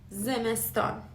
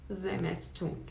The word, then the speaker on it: زمستان: زمستان. زمستان means winter, but it's the formal pronunciation. The colloquial one is زمستون.